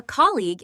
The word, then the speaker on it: colleague: A colleague is someone you work with. Sophia is my colleague. Colleague. The g at the end is silent, but sharp.